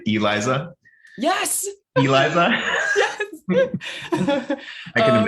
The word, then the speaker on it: Eliza: And folks, in English, my name has one stressed syllable in the middle. I have 3 syllables in my name, Eliza.